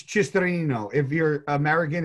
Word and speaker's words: Cisternino: People always go Cicerino. Like they leave Cisternino. Out an N. Cisternino. It's if you're Italian, it's Cisternino.